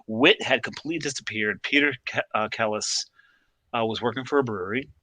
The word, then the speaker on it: Celis: Kellis, I'm pronouncing it properly.